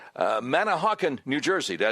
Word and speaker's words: Manahawkin: Let's go to Ryan, listening on WABC from, I hope I'm saying this right, Manahawkin, New Jersey.